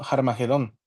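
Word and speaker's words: Harmagedón: la parte de arriba Esta partícula nos marca que hay como una resonancia fuerte se debería decir como harmagedon y en la parte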